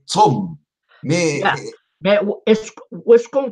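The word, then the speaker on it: צום: Et en hébreu, on dit Saum. Saum. Ah. Et Siam, non. Saum. Bon, saum. Saum en hébreu. En Saum, hébreu. en hébreu biblique. La prononciation moderne en Israël, c'est tsom.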